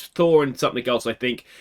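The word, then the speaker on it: Þór: think it might be Port which I've since been told is pronounced Thor and if I'd known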